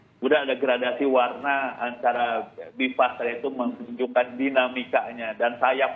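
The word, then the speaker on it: BI-FAST: Jadi bacanya BIFAS ya Pak ya, bukan BI Fast. Boleh BIFAS, mungkin lebih enak BIFAS.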